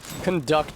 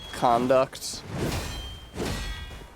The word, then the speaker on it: conduct: Conduct is a great word, ain't it? Like, conduct. Pronounce the same word with stress on other syllable.